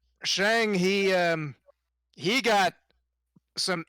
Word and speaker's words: Shang: it's without Sean but yeah literally it's called pronounced Shang he um he got some interesting faces got